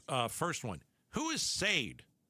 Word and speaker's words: Sade: It is not Sade. What is it? Chararda. Charard. Charard. Yes. Chararda.